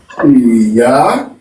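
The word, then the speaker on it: Ìyá: So what tone are we going to apply to Iya? I think I's will have a left, so low tone, Yeah, and the I? high tone.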